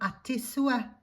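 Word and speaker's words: à tes souhaits: You say a tes sue or a vos sue if you're talking to an older person or somebody that you respect.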